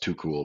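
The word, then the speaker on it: TuQL: you've looked it um it's pronounced too cool but it's t-u-q-l no and it's like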